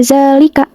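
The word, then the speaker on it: ذَٰلِكَ: Di sini tuh terdapat fathah tegak pada zal. Lalu dibacanya panjang 2 harokat pada huruf za-nya ini. Jadi dibacanya seperti ini. Zalika, zalika. Nah, itu huruf za-nya dipanjangkan itu.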